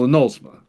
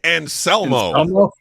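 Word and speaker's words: Anselmo: What the fuck did you say his last name was? Anolsma? And Isn't that how you say it? And Selmo. Oh, I've been saying. You've been saying it wrong for like 40 fucking years, apparently.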